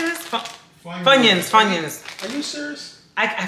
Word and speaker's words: Funyuns: Funyuns, funyuns.